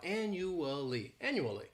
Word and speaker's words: annually: This word has 4 syllables and the stress is on that first syllable. The second syllable, it's like you're just saying that letter, U. And the third syllable has that schwa, annually.